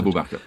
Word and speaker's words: Abu Bakr: And this was a great friend of Muhammad's, Abu Bakr, is that how I pronounce it? Abu Bakr.